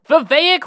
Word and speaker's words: Vivek: Vivek Ramaswamy, pronounced like cake, is a sort of a who candidate and is really a dark horse to win the nomination.